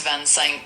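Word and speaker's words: vingt-cinq: Yes, Van Sync 25. Yes. Is that what you said? Yes, that's correct. For 25, it's Vansen. Uh, and that's exactly how we stay and spell it.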